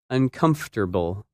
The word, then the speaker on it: uncomfortable: learners that word is uncomfortable and it's opposite comfortable when you say this word you do not pronounce some of the letters that you see in the written word in this lesson you